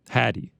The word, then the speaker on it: Hattie: Hattie. He said it's pronounced like Caddy. So shout out to Hattie.